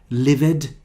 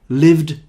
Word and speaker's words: lived: started invited hated now why do people make mistakes with the pronunciation because they think that the other examples are the same livid smilid turn it but no this is different there is a different rule for these verbs so this one started invited hated but here we have lived smiled turned now why